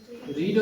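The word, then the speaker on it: read: पढ़ना का रीड होता है, रीड, रेड, रीड। Spelling same होता है लेकिन उसको प्रोनाउंस करेंगे रीड, रेड, रीड, स्पेलिंग वही रहेगा।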